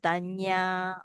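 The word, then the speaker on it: dhañña: So this one you pronounce at nya. Remember, the end with the curry we pronounce this one we pronounce as nya, like panya. All right, we pronounce it panya.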